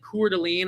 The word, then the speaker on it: Coeur d'Alene: Then we went to Quan and Coeur d'Alene. I did pronounce that right the first time.